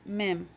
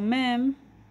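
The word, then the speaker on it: מם: good next letter is mem so ma'am makes the sound of em ma'am again some people write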